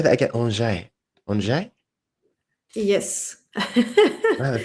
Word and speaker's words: Angers: In Angers, in the northwest. Okay, I've never. Can you say that again? Angers. Angers? Yes. Man, that sounds beautiful. I love the sound of that. It was just reminded Angers.